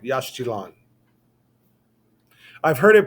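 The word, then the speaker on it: Yaxchilan: All right, Yashchilan. I've heard it pronounced Yashchilan, and I've heard it pronounced Yashilan.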